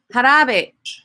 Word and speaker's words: jarabe: El jarabe. El jarabe. Jarabe. So whenever you see Jarabe. a J, it's going to have the H sound.